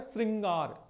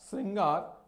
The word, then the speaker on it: श्रृंगार: श्रृंगार कहीं ना कहीं री का प्रोनाउंसिएशन हो रहा है, री का उच्चारण हो रहा है, और री का उच्चारण हो रहा है मतलब ये जो है, जो सी जैसी जो मात्रा होती है नीचे, उसे पढ़ते हैं री।